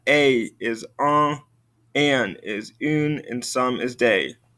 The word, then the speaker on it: une: Une. Again, pay attention to that pronunciation. Une.